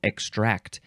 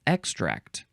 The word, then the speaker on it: extract: the first word in this episode is extract emphasize the second syllable extract e ex t r a c um it does say in sense 5 you would emphasize the first syllable extract uh so this is